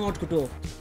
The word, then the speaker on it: haute couture: She had a neutral stance on haute couture.